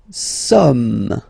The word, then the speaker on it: sommes: Nous sommes, okay. Nous sommes, okay. So you don't pronounce the final S here, it doesn't exist.